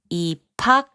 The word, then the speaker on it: 입학: 입학, which means entrance into a school, is pronounced as 입학.